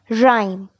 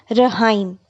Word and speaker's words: rhyme: e rhyme rhyme students letter H is silent in the word rhyme we do not pronounce it as Rahim we pronounce it as rhyme next word we have